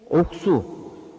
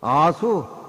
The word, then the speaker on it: 옥수: 옥수 옥수로 발음을 해. 예. 아를 발음을 옥으로 발음을 해. 예. 백 옥수. 예. 아수 그럼 못 써.